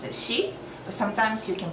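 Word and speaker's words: 四: got that okay so um four is I pronounced the she but sometimes you can pronounce it as y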